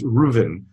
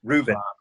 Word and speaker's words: Reuven: But I always say to especially my classes in China, I say it rhymes with move in, and which doesn't really doesn't help them in China.